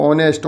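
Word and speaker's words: honest: fill in the blank is silent letter of ऑनेस्ट नेस्ट में जो silent letter वो एच है बहुत महत्त्वपूर्ण एक नी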